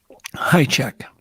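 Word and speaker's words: Hajicek: Just so I hear it from the horse's mouth, how do you pronounce it? High check.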